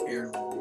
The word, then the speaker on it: heirloom: H is silent. It's just heirloom.